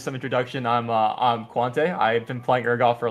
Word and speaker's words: Quante: I say Quante, but it really doesn't matter.